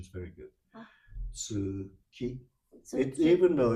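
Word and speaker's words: 月: So tsuki, moon, is tsuki. It's not U is not pronounced.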